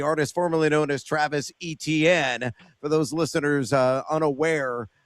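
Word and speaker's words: Etienne: Aan, uh, the artist formerly known as Travis ETN for those listeners uh, unaware of the proper pronunciation of his last name.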